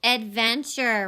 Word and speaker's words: adventure: Add, first close syllable, then, chur, adventure. And I wrote chur up above that because remember, T-U-R-E, chur, is a suffix and it goes at the end of the word.